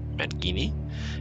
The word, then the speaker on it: Mangini: And he mentioned that he's going to have Jane, and I'm going to probably slaughter Jane's last name, but I believe it's pronounced Mangini, M-A-N-G-I-N-I, from Trans-Siberia Orchestra, who's a keyboardist, to come out and play.